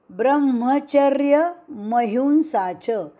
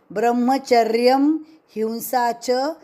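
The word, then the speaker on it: ब्रह्मचर्यमहिंसा: ब्रह्म ब्रह्म नाही ब्रह्मचर्य ब्रह्मचर्य महिंसाच यहा पे म पुरा ब्रह्मचर्य महिंसाच म पुरा पढना आहे ब्रह्मचर्य हिंसाच नाही ब्रह्मच हिंसाच यह गलत उच्चारण है ब्रह्मचर्य ब्रह्मचर्यम हिंसाच हिंसा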